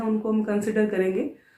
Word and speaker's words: Chara: Students इसको pronounce कारा करना है, नॉट चारा। कई बार स्टूडेंट्स इसको पढ़ते हैं तो CHARA ये समझ लेते हैं, बट ये कारा है।